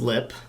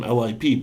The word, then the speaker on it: LIP: So second on the list is Lip. Lip. Actually, someone corrected me. I called them LIP, but it's pronounced just Lip.